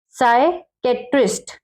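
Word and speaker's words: psychiatrist: एस से पहले आया पी, साइलेंट होता है, ठीक है, ये पी का है। जैसे साइकेट्रिस्ट, ये देखिए, अब हमने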